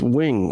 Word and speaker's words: Nguyen: hello thanks so much killer be the win am i pronouncing that right is it wing right no it's no end you're right okay because my